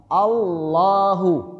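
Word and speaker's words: الله: Karena hukum bacaan Allah itu tafhim, tebal. Jangan alla bukan tapi tebal. Allahu. Allahu Allahu Akbar. Allahu Akbar. Allahu Allah nempelin lidahnya Allahu Allah waallahu samian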